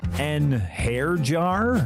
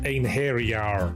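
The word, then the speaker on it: Einherjar: And those are just the ones I can pronounce. En hair jar? It's pronounced ein hair-jar.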